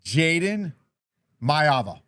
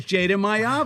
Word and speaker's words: Jayden Maiava: Jayden Maiava. Perfect. That is Jayden Maiava.